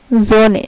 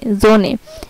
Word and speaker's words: Sonne: যেমন এই যে SONNE জোনে, জোনে, এখানে কিন্তু ও এর পরে দুটি কনসোনেন্ট আছে, এই জন্য এটা হয়েছে জোনে, এখানে স্বরের মতো উচ্চারণ হয়েছে।